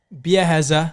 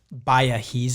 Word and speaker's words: Biaheza: to pronounce though because when I first heard of your name I thought it was Baha yeah that's what I